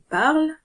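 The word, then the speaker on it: parlent: Bien que la terminaison soit ENT, elle ne se prononce pas. On dit donc il parle pour il parle, sans ajouter de son supplémentaire pour le ENT.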